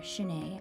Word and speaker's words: chenets: These brass andirons, or chenets as they're pronounced in French, were also inspired from the hotel room I stayed at in Versailles.